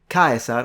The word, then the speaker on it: Caesar: e in ecclesiastical Latin so how weird would it be for an ancient Roman to hear kaisar or yulu skaisa to being pronounced cheza or Caesar or Caesar completely recognizable to him